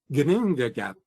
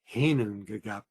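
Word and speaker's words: Ginnungagap: The other day I was walking around the house saying Gnungagap, Gnungagap, only to discover that it's actually Hinungagap.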